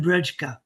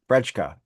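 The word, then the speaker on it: Brejcha: So, this Vernon Brensha, how do you pronounce that? Brensha. Uh Vernon Bredka. Bredka.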